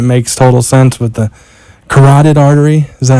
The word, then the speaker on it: carotid: in, but it makes total sense with the carotid artery. Is that how I'm pronouncing Carotid, it?